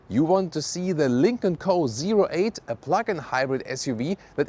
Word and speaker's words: Lynk & Co 08: Let's go with the Lincoln Co.08. That's also how you officially pronounce it.